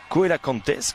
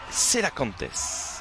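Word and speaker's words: cœlacanthes: On profite de ce petit arrêt de jeu pour saluer Mayou 976 sur Twitter, qui nous dit Koela Cantes, comme j'ai pu le prononcer, donc le nom, surnom des Comores.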